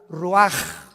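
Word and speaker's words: ruach: y exhaló Isaac el Roach así como suena se pronuncia la c en hebreo como J ruaj se le só y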